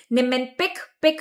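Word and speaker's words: Niemann-Pick: Nimpic pick rhymes with big.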